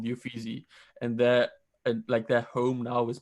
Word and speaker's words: Uffizi: It was actually the Uffizi, I think is how you pronounce it in Italy.